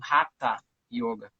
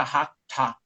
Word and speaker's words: Haṭha: Você tem que botar a língua no céu da boca, e quando você vai falar o A, fica Hatha, Hatha.